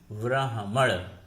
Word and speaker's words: ब्राह्मण: जैसे हम उच्चारण करते हैं ब्राह्मण, ब्राह्मण में ह पहले आता है जो शुद्ध रूप है, ब्राह्मण नहीं लिख सकते। यदि ब्राह्मण लिखेंगे तो वर्तनी और उच्चारण दोनों गलत हो जाया करते हैं।